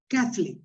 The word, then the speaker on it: Catholic: in the chat here we put the the stress on the first syllable okay so catholic that zeb is let